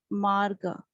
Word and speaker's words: Marga: It's not the Marga. It's not Mat. Correct it. That is not MATGA, is MARGA.